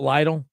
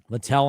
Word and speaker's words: Littell: Brian Weaver says that Abbott should be the day 2 starter, not Lytle. Littell, I'm sorry. I always say his name wrong.